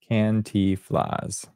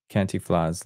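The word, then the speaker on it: Cantinflas: I got the pronunciation here. Thank you very much. Where is it? Kantiflas. Kantiflas.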